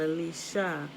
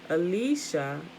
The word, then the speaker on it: Elisha: Elisha, A-L-I-Y-S-H-A, Strong's number 477, Owl of deliverance, or you hear it mispronounced L, right? E-L, but it's actually all, A-L.